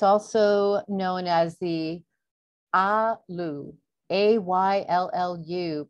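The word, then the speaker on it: ayllu: It's also known as the Alu, A-Y-L-L-U, pronounced I-U, I-U.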